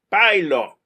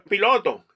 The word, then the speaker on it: pilot: Por ejemplo, pilot. Eso no es piloto. Tienes que marcar la T. Entonces, tú oyes que la persona dice pilot y le da un T al final.